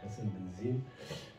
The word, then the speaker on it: Hassan Benzine: Oui, Hassan Benzine, donc je prononce en arabe, Hassan Benzine.